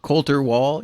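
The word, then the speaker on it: Colter Wall: Uh well uh thank you for sending me the link to uh how do you pronounce his name? Coulter Wall Cter Wall.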